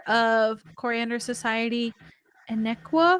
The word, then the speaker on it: Inaequa: Next week we will resume with episode 4 of Coriander Society Inaequa. I think I said it right. More of an A, but yeah, you're good. Inaequa.